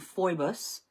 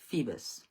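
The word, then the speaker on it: Phoebus: So apologies to all devotees of Apollo for saying fibbus instead of feebus.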